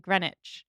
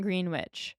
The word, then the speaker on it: Greenwich: That makes total sense, like Greenwich, Yeah. not Greenwich.